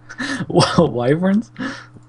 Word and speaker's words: wyvern: last week so whatever waver wyverns wyvern that's how they're pronounced waver uh we know